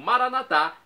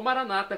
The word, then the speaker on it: Maranatá: E agora, do aramaico, eu clamo Maranatá, como dizemos nós católicos, ou Maranata, como dizem nossos irmãos separados, os evangélicos ou protestantes. Não importa a pronúncia, o significado é o mesmo.